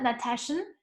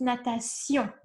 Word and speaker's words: natation: Also pronunciation, this is not shun, it's not natation, it's natation. Si-on, sion.